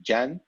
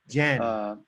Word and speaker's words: Can: Actually, So yeah, the Spelled pronunciation is C-A-N. actually, yeah, the pronunciation is actually Jan. Jan. Yeah, he's based in Ireland. He has Turkish inheritance, and I had the opportunity to have a coffee chat with him.